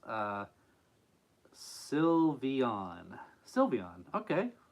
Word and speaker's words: Sylveon: in case you didn't know here's how you pronounce uh silvon Sylveon okay Sylveon got it all right oh stream froze for